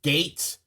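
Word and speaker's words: Geiz: it's like it's pronounced gates but it's spelled G E Y um G I Z but it's actually um if you pronounce it in English it's gates like the like uh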